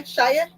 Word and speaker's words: Shia: Oh, I'm saying it right then, yeah. Shia. Long I. Shia.